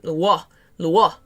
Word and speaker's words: Luo: It's more of a W sound in the Luo.